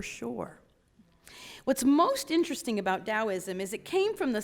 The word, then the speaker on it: Taoism: living a christ-centered life Taoism is actually pronounced with a D but it is spelled with a T so it's T AO is M but we say it